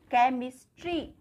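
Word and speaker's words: chemistry: जैसे यहाँ पर देखिए केमिस्ट्री, यहाँ पर सी के आगे एच है तो यहाँ पर एच हमारा साइलेंट है, हमने एच को कुछ भी प्रोनाउंस नहीं किया, केमिस्ट्री।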